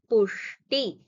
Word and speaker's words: पुष्टि: this pushti, krishti, these are all supposed to be a shat kon sha. That is when you say shanmukam, it is that sha. It's not the shiva sha. So here you will have to pronounce it little differently by folding your tongue a little bit. So it is pushti, krishti. So that sha you will have to take care of.